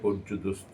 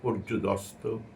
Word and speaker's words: পর্যুদস্ত: করে কখনো কখনো এটাকে পর্যুদস্ত বলে ফেলি দোস্ত শব্দের অর্থ একরকম আর দস্ত শব্দের অর্থ আরেকরকম সেজন্য অর্থের কারণে এটা পর্যুদস্ত উচ্চারণ হওয়া ভালো মুখ